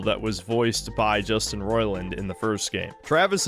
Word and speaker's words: Roiland: If you don't like Justin Roiland, he keeps saying Roiland. He's saying the fucking name wrong. He's pissing me off. It's Justin Roiland.